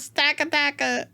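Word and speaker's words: Stakataka: I forgot that about Stack Attacker. Is that how you say it? Stack Attack. Yeah, Stack Attacker.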